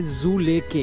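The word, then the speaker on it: Dzüleke: सो D silent से जू लेके।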